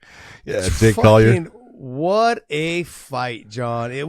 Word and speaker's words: Collier: Collier? Yeah, Jake Collier.